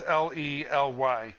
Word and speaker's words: Lely: The Lily, I believe it's pronounced Lily. It's Lely.